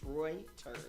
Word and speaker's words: Reuters: in in DC and asked them how to pronounce it. It's Reuters.